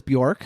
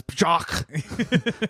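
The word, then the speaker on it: Björk: Number 2 was Bjork, who I have not done a big I'm saying it right, Bjork, right?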